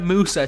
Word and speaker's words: Musa: I have definitely butchered that first name, so I'm just going to call him Musa because I know that's how his second name is pronounced.